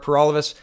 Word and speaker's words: Paralovos: trudeau thanks for watching everybody my name is pur all of us that rhymes with for